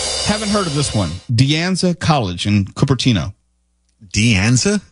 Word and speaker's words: De Anza: De Anza College in Cupertino. De Anza? Yeah. Mm-hmm. How do you spell it?